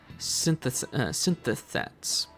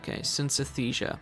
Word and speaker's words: synesthesia: We call people who experience this phenomenon synthethets. How do you say that? Synthethets. Synesthesia. That's how you're supposed to say it.